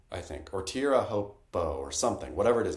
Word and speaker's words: Teahupo'o: him, I think it's Teahupo'o, I think, or Teahupo'o or something, whatever it is. It starts with tear, though. Apparently you say tear at the start, which is so ludicrous.